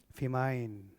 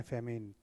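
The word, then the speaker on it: famine: और इनकी जो किताब थी, किताब का नाम है पॉवर्टी एंड फेमाइन, है ना, फेमिन, थोड़ा इन्होंने स्पेलिंग ई आएगा यहाँ पे, ओ नहीं आएगा,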